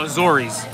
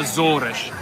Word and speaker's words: Azores: But they were from the Azores, which most people would call Azores. Azores. But in Azores, it's like Rio. Everything is ush dush, like so crunchy. So they call it Azores.